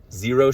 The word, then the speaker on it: Xero: our favorites are Vivoarbefoot, Xero Shoes, spelled with an X, Xero.